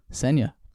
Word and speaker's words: Senya: Introducing Senya. Rhymes with Kenya.